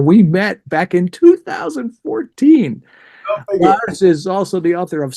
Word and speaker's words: Lars: I said, is it Lars or is it Lars? And he says, it's Lars.